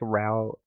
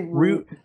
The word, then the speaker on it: route: intermediary i don't know how do you say that root routes i've heard it say like uh both are correct it depends on your regional dialect i like row well okay i say root they're both they're both